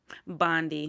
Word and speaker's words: Bondi: Bondi. Did I say Bilbo? Bondi. Bondi? Oh, Bondi, but it's pronounced Bond I.